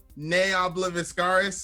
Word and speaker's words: Ne Obliviscaris: Zen from the band nay I love ascaris is that right that's actually correct the pronunciations really yeah